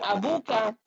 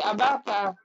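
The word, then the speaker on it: أباك: Nah, bukan abuka, tapi abaka. Kenapa abaka? Karena dia merupakan objek atau maf'ulun bih.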